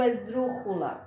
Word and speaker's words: esdrújula: Escrevo esdrújula com J, mas eu pronuncio esdrújula com som de R.